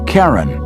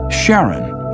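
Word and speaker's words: Charon: Christy suggested the name Karen after the Ferman of Pluto's underworld in Greek mythology but preferred to pronounce it Sharon more like his wife's name Charlene from the Motions of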